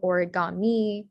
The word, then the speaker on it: origami: You also have in Japanese the E sound, which is pronounced with spelled with an I. So origami, tsunami, wasabi, sukiyaki.